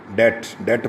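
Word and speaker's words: debt: डेट पढ़ना है, बी नहीं पढ़ते, आपको पता है। जहाँ भी बी और टी इकट्ठा आए तो आप बी को साइलेंट कर देते हैं।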